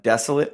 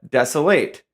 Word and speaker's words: desolate: If it's a verb, it's desolate.